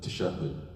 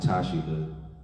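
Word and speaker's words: تشهد: Tasha hood all right the Tash of it is really called to shove it to shove it right it's not Tashi good that's how it's spelled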